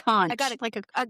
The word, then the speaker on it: conch: No, conch? It's a conch.